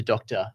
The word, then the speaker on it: DR: Look, I mean, it's meant to be the DR for my initials, and I'm very well aware that's often pronounced as doctor. Yeah. Look, we could go into Dr. Analytics Recruitment if we wanted to. It's just going to be what the people want, but officially it is DR Analytics Recruitment.